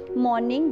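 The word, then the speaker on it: morning: मॉर्निंग जिसमें are silent होगा, सुबह, नून दोपहर, आफ्टरनून दोपहर बाद, एंड मिड डे बेसिकली दोपहर भी होता है।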